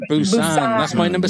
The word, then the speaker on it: Busan: Okay, I hope I pronounce it correctly. Train to Busan. Is it Busan? Busan.